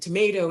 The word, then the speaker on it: tomato: stress on three and tomato is a three two three syllable stress on two so you can have